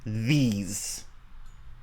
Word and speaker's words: these: Yeah, and as Maggie pointed out, these, it has a Z sound at the end, whereas this has an S sound. So not this, no, this, and not these, no, these.